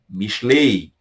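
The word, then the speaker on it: משלי: Mishlei. Mishlei. Alguns até pronunciam. O I nem sai no final, né? Mishlei. A Mishlei.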